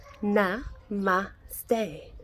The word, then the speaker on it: namaste: into Ostara Ostara depends I pronounce it and namaste na ma stay well lots of people